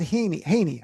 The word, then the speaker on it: Haney: So, I had on Assemblyman Matt Haney, I think that's how you pronounce it, Yep, recently Haney.